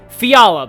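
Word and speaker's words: Fjalar: to pronounce this correctly fiala that's how that's how you say it so here has major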